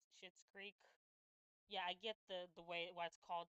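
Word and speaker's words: Schitt's Creek: I love how it's it's spelled S C H I T, but it's called Yeah. Shitz Creek.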